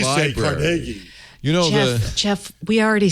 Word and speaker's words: Carnegie: I was Carnegie.